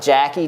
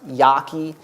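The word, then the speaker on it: Jaki: yaki it looks like Jackie jki but apparently it's pronounced yaki Stanley yaki has argued extensively that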